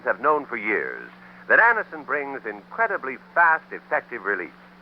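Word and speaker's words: Anacin: Thousands of people have been introduced to Anison this way. Try Anison yourself the next time you suffer from the pains of a headache, neuritis, or neuralgia.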